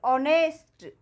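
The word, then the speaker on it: honest: अवर इसी तरह से ऑनेस्ट ठीक है ओके पहले जो हा आता है उसमें हा साइलेंट राहत है ये रूल भी आप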